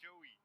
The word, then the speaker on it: Joey: Hello, is it? Hello. Yeah, Hello, it's pronounced Joey.